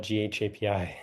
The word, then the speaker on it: ghapi: GHA, I pronounce it Gappy, but both Hamel and Jeremy just call it GHAPI.